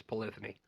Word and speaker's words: Polyphony: dead people says it's polyphony oh okay yeah okay i remember that i remember that well polyphony rhymes with sony so